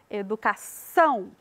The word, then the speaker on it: educação: pronunciado com mais ênfase na palavra educação a gente coloca mais ênfase lá na última sílaba são educação e todas as palavras